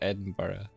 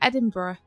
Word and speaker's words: Edinburgh: you say how do you like I said Edinburgh oh yeah I say Edinburgh like hey bruh yeah actually spell Edinburgh it's